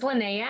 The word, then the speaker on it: Linnea: names so what's your name my name is lynnea i go you know by lynnae beautiful